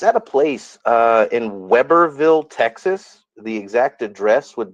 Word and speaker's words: Webberville: It's at a place in Weberville, Texas.